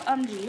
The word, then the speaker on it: UMGEE: But it's called UMG. Let's see if I can, well, UMGEE is how it's spelled.